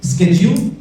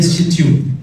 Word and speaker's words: schedule: अब like you have understood, schedule या schedule दोनों ही करेक्ट हैं.